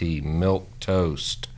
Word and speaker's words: milquetoast: people won't won't know what it is but it's spelled mi l qu e tio ast milquetoast and as an adjective it means feeble insipid